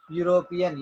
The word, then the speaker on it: European: రెండు ఓవెల్స్ ఉన్నా కానీ ఇక్కడ వచ్చే సౌండ్ మాత్రం కాన్సోనెంట్ సౌండ్. యూరోపియన్ యాక్ కొమ్మిస్తే యు, కాబట్టి జాన్ ఈజ్ ఏ యూరోపియన్.